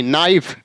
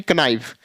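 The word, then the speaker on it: knife: एन आई एफ आई नाइफ ना कि क नाइफ य मतलब एन से पहले अगर के आए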